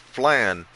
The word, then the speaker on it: flan: Flan. Okay. because and um it's pronounced fla like lawn, you know, your font lawn.